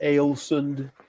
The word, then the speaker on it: Ålesund: Ålesund or Alesund is the way it's spelled.